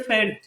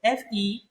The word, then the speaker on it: very: When you say very, you are pronouncing another word, Ferry. Ferry. And that means something relating to the sea.